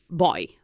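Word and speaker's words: voy: going in Spanish is boy oh boy Bo oh boy Bo Boy SP v y I'm going bye bye again the V pronounce with your lips like a like a b boy boy I'm going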